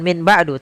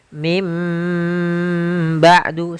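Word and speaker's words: من بعد: Maka kita bacanya dengan bukan min ba'du tapi mim. ba'du sambil ditahan dengan ghunahnya, yaitu suara nunnya dirubah menjadi suara huruf mim.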